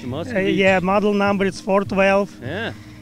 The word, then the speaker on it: Moskvich: Yeah, it's you pronounce it Moskvich. Moskvich.